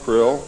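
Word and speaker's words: Krll: His name and title was his omnipotent highness krill, pronounced krill, spelled K R L L or C R L L.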